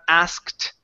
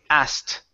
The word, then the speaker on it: asked: so this word here we don't want to pronounce the k it's not asked okay it's asked asked so I asked Joseph